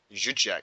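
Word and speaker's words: Dzsudzsák: I did really enjoy Kleinheisler and Zuzjek. Is that how you pronounce it? Zuzjek, yeah.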